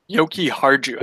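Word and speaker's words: Jokiharju: Yoki Harju, I think. Harju, yes, that sounds way more right.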